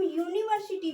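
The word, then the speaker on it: university: क्योंकि जब हम यूनिवर्सिटी को पढ़ते हैं हिंदी में इसका उच्चारण यू का यहां पे ऐसे यू आ रहा है जो वाई से य होता है उसका साउंड यहां पे यू से हो रहा है।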